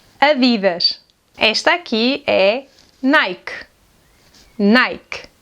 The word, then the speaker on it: Adidas: Another well-known clothing brand is this one and we pronounce this brand like this: “ADIDASH”, “ADIDASH”.